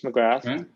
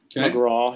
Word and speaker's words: McGrath: And I've asked auto amateur James McGrath. McGraw. He told me to call him McGraw, not McGrath, even though it's spelled McGrath.